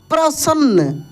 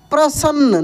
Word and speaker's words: प्रसन्न: उसके बाद देखेंगे दोस्तों यहां पर लिखा है प्रसन्न प्रसन्न न पे क्या लगेगा जोर लग रहा है तो प में पदेन र की मात्रा स और नन संयुक्त यानी जिस अक्षर पे जोर लगता है वो उसमें आधा और पूरा वही अक्षर होता है जैसे मक्का मक्का हम